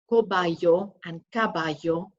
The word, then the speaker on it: caballos: eight cats nueve perros nine dogs and the caballos muy bien hopefully you got that right just want to draw your attention to a couple of things in there remember a pronunciation between kobayo it's very similar so kobayan guinea pigs cabbage